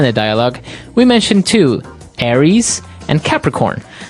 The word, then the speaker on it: Aries: And um so it's pronounced Aries. Aries.